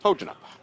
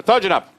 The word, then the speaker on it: Kojonup: Tojunup K is silent replaced by a T. Thanks English language. That's all good. So Tjanup and Imperials is the matchup.